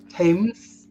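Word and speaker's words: Thames: animation um due to Rainbow um uh so tames television um in it yeah TS the TS Tams yeah yes I'm not Bri shy obviously mispronounce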